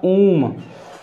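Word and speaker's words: womb: देखिए इसे पढ़ते हैं उम्ब, लेकिन इसका जो हमारा सही उच्चारण होता है, होता ऊम। ध्यान रखिएगा ऊम, इसमें हमारा भी साइलेंट है।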